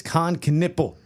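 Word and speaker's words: Kon Knueppel: I had to look up the pronunciation, but it's Khan Knipple and Tre Johnson.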